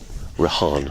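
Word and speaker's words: Rehan: Y yeah he's Rahan. I need to get the pronunciation of his name correct.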